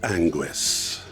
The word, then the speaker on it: Anguis: name's I'm the fourth anguis it's pronounced angu but you can just